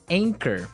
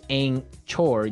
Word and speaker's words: anchor: But you don't pronounce the ch as you normally would, right? Another one of these really difficult uh to spell English words, right? So, you don't say ankor.